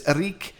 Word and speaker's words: Eríc: Am I pronouncing that right? Eríc? Yeah, Eríc.